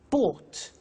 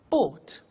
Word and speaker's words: bought: Buy, bought. You notice that O-U-G-H-T is pronounced ought. Buy, bought.